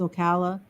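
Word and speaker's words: Ocala: Wildwood and in Florida they call it Okala because it's the it's a hard SE I only know because I was corrected so yeah I said a hard C but the a different Okala but it's Okala yeah and so since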